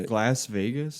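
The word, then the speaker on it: Glasvegas: Uh, Glas Vegas. Like Glasgow. It's a playoff from Glasgow.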